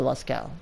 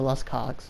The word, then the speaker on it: Lascaux: Not sure what language that is, but it's pronounced the Lascaux. It's not pronounced the Lascogs. It's not pronounced the Las Cogs or some weird shit. It's just the Lascaux.